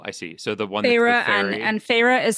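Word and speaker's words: Feyre: actually in the beginning of the story um Phra is human. Who's Phra? Phra is the protagonist. Oh, I see. So, the one phah and and Phah is spelled F E Y R E.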